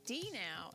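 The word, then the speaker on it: D-Now: up what's a denial um it's pronounced d now and it means disciple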